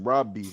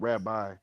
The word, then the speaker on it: Rabbi: Yeah, but it's pronounced Robi, not Rabbi.